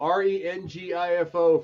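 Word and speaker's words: Rengifo: I'm gonna say it right uh REO REO re ngfo for those at home who don't have is silent the is silent Ray he uh Swit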